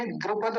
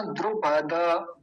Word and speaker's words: द्रुपद: और एक बात थी, द्रुपद नहीं बोलना, द्रुपद।